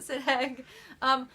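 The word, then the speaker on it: Sidheag: I pronounce it Sidhag.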